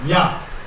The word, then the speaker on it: Yah: Yah. Y-A-H. Yah. And this is the netcher Yah. Now, there's also other pronunciations in Kemetic, depending on what time period the netcher Yah was written in.